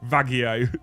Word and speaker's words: Vallejo: well you're a YouTuber you're meant to pronounce Vallejo with some mental Spanish accent to keep up with tradition that'll go vagio to let yourself down